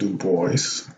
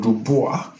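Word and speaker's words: Du Bois: pronounced too oh no maybe not yeah he pronounces it do boys take the boys but dubois would have been the french pronunciation but yeah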